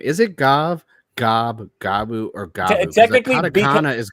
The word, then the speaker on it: Gavv: It's like I'm pronouncing it the way the katakana is. It's Gavu.